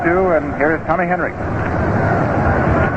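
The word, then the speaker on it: Henrich: And here is Tommy Henrik. The name is pronounced as though the final letter is a K although it's spelled H N R I C H. Henrik was really pounding that ball last year for the Yankees.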